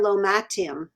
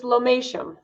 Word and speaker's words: lomatium: then we have your lomactium am i pronouncing it correctly uh it's lomatium domation sorry donation no